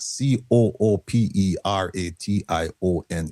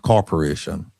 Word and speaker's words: cooperation: And I know that C O O P E R A T I O N is pronounced cooperation, not corporation.